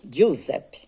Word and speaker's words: Giuseppe: Lá pronuncia G, né? Então, Giuseppe.